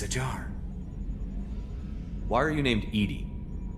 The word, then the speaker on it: EDI: the airlock is ajar why are you named edie edie is the phonetic pronunciation of edi that is an acronym for